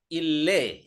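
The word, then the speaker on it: إللي: Ille. Ini bacanya ille. Ille itu asalnya allazi. Jadi yang itu maka ille.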